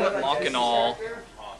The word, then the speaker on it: Machinal: restaurant scene the name Mock and all what I'm assuming is cuz it's spelled like machine you drop the e off the end and add an A so the whole Prospect